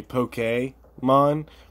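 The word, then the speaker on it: Pokémon: the way I realize I'm saying Pokemon and it's actually poke a Mon but I prefer to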